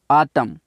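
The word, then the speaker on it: autumn: का मौसम तीसरा है ए यू टी यू एम एन आतम एन जहां पर साइलेंट होता है आतम आतम का मतलब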